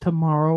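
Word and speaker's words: TMRW: I think it's pronounced tomorrow, or rather, it's tomorrow. Like, it makes no sense. It's not a word.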